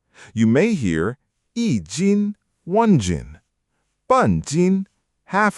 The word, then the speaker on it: 斤: You may hear yī jīn, one jin.